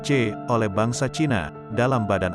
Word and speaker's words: Qi: Bila Anda pernah diobati dengan tusuk jarum, Anda mengalami sirkulasi energi bioelektrik, yang disebut Qi, diucapkan C, oleh bangsa Cina, dalam badan Anda.